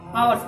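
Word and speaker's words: hours: एन लगाते हैं ना, क्योंकि हावर्स नहीं पढ़ते हैं, आवर्स पढ़ते हैं। आर्स पढ़ते हैं, इसका सही उच्चारण है आर्स, ठीक है।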